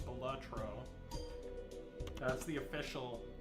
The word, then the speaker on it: Balatro: It's actually pronounced batro.